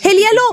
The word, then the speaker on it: Elia Low: Possiamo pronunciarla così? Elia Lo, sì, Elia Low, giustissimo, Elia Low è facilissimo.